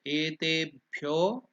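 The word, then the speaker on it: एतेभ्यो: Om Etebhyo, E and Te are elongated. So Etebhyo, that is Dirgha. Pyo, O, that also is elongated.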